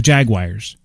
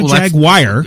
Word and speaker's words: Jaguar: pronounces that word differently it's a Jaguar it's not a flag wire well that's what I say too but I've heard all kinds of well elicits the car that's a Jaguar yeah but yeah Jaguar